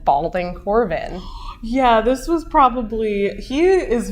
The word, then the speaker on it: Corbin: Yeah, Corbin.